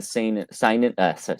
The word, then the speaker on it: seinen: Well, I think honestly for you, I'd highly recommend you starting with something in the seinen. I always forget how to pronounce it.